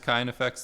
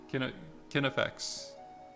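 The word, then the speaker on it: KineFX: It's not pronounced kind effects the way Kinney. Kinematics. That makes sense. Kinney effects. Kin effects.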